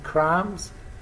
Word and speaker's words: crumbs: brush the crumbs of notice b in crumbs is not pronounced cram soft i brushed